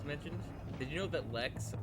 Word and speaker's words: Lex: did you know that lex rhymes with sex i didn't know that